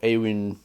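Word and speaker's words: Éowyn: that have a y I guess aoin so Awin would actually be the pronunciation for her name but there aren't too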